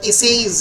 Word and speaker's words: Essais: ফলে the actual pronunciation in French is the essays, ESSAIS, French language essays, and English আমরা essays বলি।